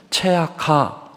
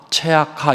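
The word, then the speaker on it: צעקה: 여러분 히브리어의 부르짖음, 울부짖음은 체악하 체악하 이렇게 발음합니다.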